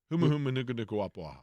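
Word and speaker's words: humuhumunukunukuāpuaʻa: I just butchered it there. The butcher has made me afraid now, too. Humu humu nuku nuku wapuaha.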